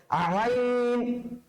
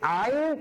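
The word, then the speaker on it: عين: আইনের উচ্চারণটা হবে হায়ের মতন করে। এখন আপনি যদি আসলে লক্ষ্মী ছেলে মেয়ে হয়ে থাকেন তাহলে কিন্তু আপনি বলে ফেলতে পারবেন হায়ের উচ্চারণটা যেন কই ছিল? কণ্ঠনালীর মধ্যভাগ। তাহলে আইনের উচ্চারণটা কোথেকে হবে? কণ্ঠনালীর মধ্যভাগ। কারণ তারা কি সেম এক কালার, তারা কি সেম এক কালার। কথা কি বুঝতে পেরেছেন? একই মায়ের পেটের দুইজন ভাই, বুঝতে পেরেছেন?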